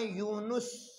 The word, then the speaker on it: یونس: چوتھی مثال ہے، اور سورت کا نام ہے یونس۔ یونس، یونس نہیں ہوتا، یونس، یونس پڑھتے ہیں